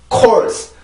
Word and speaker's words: course: 그래서 어떤 K 발음이 나오더라도 어떤 단어에서 시작 발음이 K 발음일 경우에는 반드시 우리나라의 어떤 소리, 우리나라에 표시한 그 소리보다 느려요. 느리게 출발을 하는데 그게 공기를 모으는 시간이 필요하기 때문에 그런 거죠.